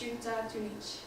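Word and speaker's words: Xunantunich: So this is this is a Mayan rune in Belize, and it's pronounced Shuta Tunich.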